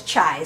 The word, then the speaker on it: chi: P of tri squared how that's pronounced it looks like x squared but it is chai squared P of chai squared